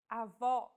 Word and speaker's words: avó: Vowels with the acute accent will be stressed and pronounced with open pronunciation. Avó.